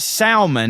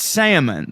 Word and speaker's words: salmon: buddy it's it's not it's not salmon it's it's salmon the the L is is silent he goes he goes